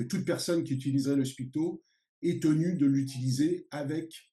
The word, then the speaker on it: spiKto: Parce que c'est l'élément comme un ah oui, Lego qui permet de construire le langage Spicto. I speak to you, où on entend en phonétique la consonance de I speak to you en anglais.